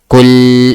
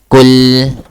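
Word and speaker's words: قُلْ: So make sure that you pronounce the L lam proper. Kul.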